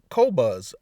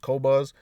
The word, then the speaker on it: Qobuz: But somebody told me about Qobuz. I think that's how it's pronounced, Qobuz.